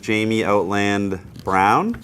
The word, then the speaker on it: Jamie Outland Brown: We're here with Jamie Outland Brown.